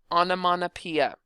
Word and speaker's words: onomatopoeia: For pronunciation's sake or spelling sake, pronunciation's sake, it's onomatopoeia, but for spelling's sake, I like to pronounce it onomatopoeia, and that helps me to actually make sure that I get the ending spelling correct.